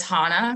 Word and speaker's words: Hannah: to our community so my name is Hannah rhymes with Donna not banana um unless you're British and then gotta throw